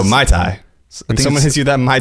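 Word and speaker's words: Mai Tai: did you drink it Muay Thai is that how you pronounced Muay Thai yeah no My Thai someone hits you that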